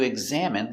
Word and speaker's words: examine: Z eggs exact exam. Exam it examine. Examine. Examine. Stress on the second syllable.